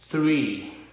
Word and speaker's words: three: 2 2 là 2, three, three, three là ba. Cái chữ three á nó hơi khó cho người Việt, tại mình không có thường xuyên để cái lưỡi ngay giữa hai hàm răng đó.